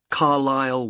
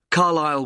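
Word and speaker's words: Carlisle: and your address 45 Carlile way could you spell carile for me sorry it's c a r l i s l e you don't pronounce the S Carlile way and that's in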